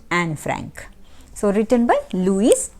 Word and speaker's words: Anne Frank: who was anne frank some people pronounce this at annie frank but not like that so better to pronounce it anne frank so written by louise